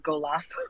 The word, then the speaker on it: Goalaseaux: Um, I my Instagram name is really long, but it's Golasso. It's Golasso. It's Can you spell it G.